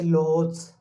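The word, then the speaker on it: Lhotse: एक लोहोत्स, इसका प्रोनाउंसिएशन थोड़ा लोहोत्स, ये माउंटेन भी पाया जाता है।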